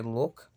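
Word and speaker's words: луг: Vemos que look termina con G, con G, pero la pronunciamos como una K.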